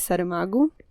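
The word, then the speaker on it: Saramago: writer of all times um his name is sarah magu i'll spell it out for you don't worry so it's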